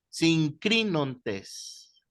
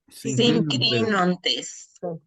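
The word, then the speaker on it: συγκρίνοντες: Sincrinontes. Sincrinontes.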